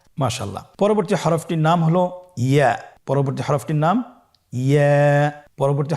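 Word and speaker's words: ياء: পরবর্তী হরফটির নাম হল ইয়া। পরবর্তী হরফটির নাম ইয়া। পরবর্তী হরফটির নাম কি? ইয়া। ইয়া হরফটি উচ্চারণের ক্ষেত্রে বারিক হবে এবং এক আলিফ টেনে পড়তে হবে।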